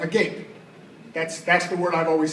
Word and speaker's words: agape: It's spelled A-G-A-P-E. It's pronounced agape.